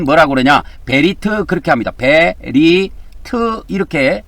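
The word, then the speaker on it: בְּרִית: 베리트 이렇게 발음합니다.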